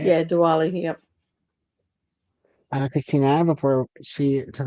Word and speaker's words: Diwali: Yeah, Diwali.